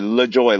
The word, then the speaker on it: LeJoy: So, LeJoy, like the joy, is it? Yeah.